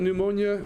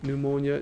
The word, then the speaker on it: pneumonia: what empyema is pneumonia did you know that pneumonia was spelled with a p did you guys know